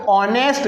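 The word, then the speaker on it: honest: अब देखिए इसको एच साइलेंट है, यहाँ पर इसको ऑनेस्ट क्या पढ़ते हैं? ऑनेस्ट।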